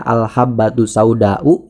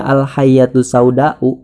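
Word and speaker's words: الحبة السوداء: Seharusnya al-habbatus sauda'u yang artinya adalah biji hitam, tapi dia bacanya al-hayyatus sauda'u yang artinya adalah ular hitam.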